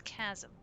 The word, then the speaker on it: chasm: I don't remember the H is silent. It's chasm.